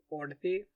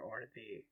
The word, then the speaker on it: Orddu: And in Welsh, "u" is pronounced--I can't quite get the sound right, but it's much closer to "ee" than "ooh."